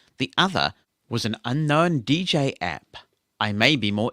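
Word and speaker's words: djay: it's not really unknown the app is called dj so i wasn't just describing the app i was naming the app that is spelt dj a y i must admit i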